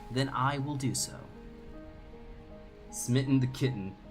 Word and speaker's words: Smitten: Smitten rhymes with mitten.